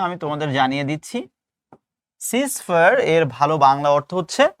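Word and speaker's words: ceasefire: পরবর্তী প্রশ্ন হচ্ছে, এটা অনেকে উচ্চারণ করে চিজ ফায়ার, আসলে এটা উচ্চারণ করতে চিজ ফায়ার না, এটার উচ্চারণ হচ্ছে সিজ ফায়ার।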